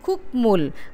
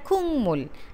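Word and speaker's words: 국물: যেমন এখানে আমরা উদাহরণ দেখি, খুকমুল, খুকমুল হয়ে যায় খুংমুল, হাংগুক মাল, হাঙ্গুং মাল, ইকনুন, ইংনুন, ভাংমুল গুয়ান, ভাকমুল গুয়ান, এটা হয়ে যাবে ভাংমুল গুয়ান।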